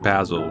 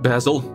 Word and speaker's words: Basil: can't love this actually your name should be pronounced basil right because i remember i remember that from uh the disney movie the mouse that was like sherlock holmes wasn't his name like